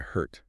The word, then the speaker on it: hurt: Now compare that to hurt.